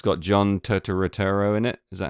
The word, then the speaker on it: Turturro: It's got John Turturro in it.